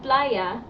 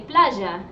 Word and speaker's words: playa: We pronounce our double L's and our Y's with a ja sound. So instead of playa, we say playa.